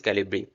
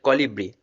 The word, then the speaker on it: Colibri: Now this is the whole process of this Calibri, sorry, Colibri.